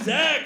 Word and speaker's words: Xack: host Tonight I uh one thing about me is my name is Zach and I actually spell it with an X which was super cool